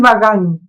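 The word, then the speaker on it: Bagan: estoy refiriéndome, Ancien Pequeño, algo así, ¿cómo se pronuncia? Ancien Pagan. Es Bagán, que es la que era capital de Es Myanmar.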